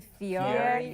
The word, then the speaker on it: Fieri: Fieri. Fieri. Fieri? Fiat. I can't. I don't Some know. of the Ferraro? It's not Ferraro.